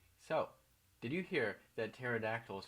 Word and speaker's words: pterodactyls: So, did you hear that pterodactyls found out a way to urinate silently? The P is silent.